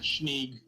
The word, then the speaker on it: Schneeg: The way you spell it sounds like Skneeg. I think like Schneeg. Yeah. The way to go, just so Schneeg.